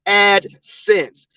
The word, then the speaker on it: AdSense: know what you're doing it's AdSense the last word is sense like Common Sense AdSense and it's spelled since